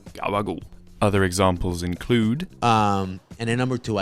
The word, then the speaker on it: gabagool: But that journey of ours explains why Italian Americans say Italian words the way they do, such as, yes, everyone's favourite, gabagool.